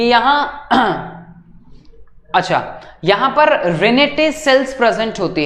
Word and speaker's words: renette: एक specialised sales होती हैं रेनेटे सेल्स, ठीक है।